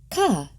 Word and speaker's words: Chet: Ket, pronounced ka.